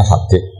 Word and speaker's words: Habib: Yang benar itu bacanya Habib.